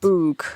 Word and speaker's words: bwg: It's BWG, is how it's spelt. Boog.